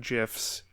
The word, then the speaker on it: GIF: The creator of the format pronounces it with a hard G, or is that a soft G? However you call it, but J, like giraffe.